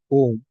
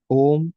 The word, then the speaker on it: Om: combination of letters like if you write in English it's said o m but when we pronounce literally is like a u m right so this is